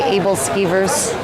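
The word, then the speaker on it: æbleskiver: These are basically able skeevers. Or I think as the Danish pronounce them, abelskever.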